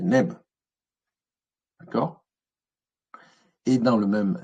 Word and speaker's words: nb: Et la corbeille, c'est NB, c'est neb.